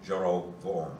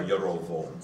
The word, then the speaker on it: Jeroboam: it doesn't really, in Hebrew it'd be Rehoboam and Jeroboam, So be, or Yerovoam. so there would be an vowel.